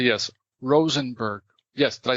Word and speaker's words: Rosenberg: You'll say, yes, Rosenberg. Yes, did I say it properly? Absolutely. You say, yes, Rosenberg.